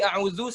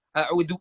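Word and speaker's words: أعوذ: bundar suaranya, sama di a'udzu sama kayak tadi Mas Rahmat Hidayat tadi, a'udzu masih kedengaran za-nya du gitu, bukan zu. Yang benar kan zu ya, tadi masih kedengaran kayak dal bacaannya. Oke, terakhir ya berarti.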